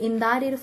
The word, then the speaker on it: indicted: be charged with가 되겠고 be indicted for indict라고 발음 안 했죠? indicted라고 합니다.